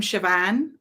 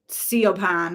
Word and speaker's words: Siobhan: love that that's like the name siobhan like the irish spelling of it and people say it like see upon or something like people have no